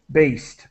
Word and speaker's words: based: Just the pronunciation of based with the T.